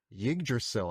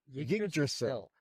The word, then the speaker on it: Yggdrasil: Yggdrasil. Yggdrasil. I think. This tree grows among the... The way I've learned Norse is just never pronounce the Y.